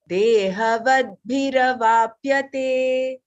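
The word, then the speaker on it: देहवद्भिरवाप्यते: Dehavadbhiravapyate. Dehavadhiravapyate. Dehavadbhi. There is two, right? The and bha is there.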